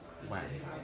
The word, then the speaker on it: HWAM: HWAM, pronounced WHAM.